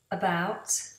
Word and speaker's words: about: About and up. About, up. So in about, we have a schwa sound, which is just uh.